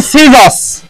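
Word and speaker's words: scissors: scene को आसे इधर है सीन इधर सी साइलेंट टाइप और वो आसे सीजस इधर है स्कीजस एंड नवरीको ये सी साइलेंट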